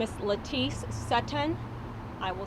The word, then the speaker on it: Sutton: may have good morning my name is Leti sutan I will spell that for you l a TI CE e last name is Satan S as in Sam u t t o